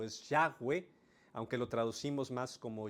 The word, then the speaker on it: Yahweh: yagüe la manera quizá más aproximada y correcta pronunciarlo es Yahweh Aunque lo traducimos más como llave o como Jehová de hecho la palabra Jehová es más inexacta el término Jehová porque es